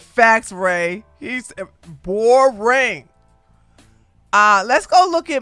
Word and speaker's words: Boreing: wrong his name is boring his name is boring I thought it was boing his name is boring